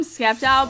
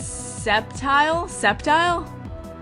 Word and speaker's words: Sceptile: Alright, I call him Sceptile, but I know there's the wrong pronunciation. I think it's Sceptile? Because you guys keep telling me the C is pretty much silent, but even if he